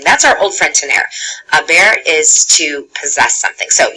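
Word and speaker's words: haber: our old friend tener a bear is to possess something so you'll notice right off about that i'm right off about the bear is irregular ok we don't pronounce the H so it is pronounced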